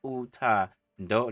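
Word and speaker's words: uthando: Utando, like a door, but you add an N so that it's on the throat.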